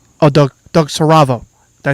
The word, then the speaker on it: Siravo: Season 7 of Doug Siravo.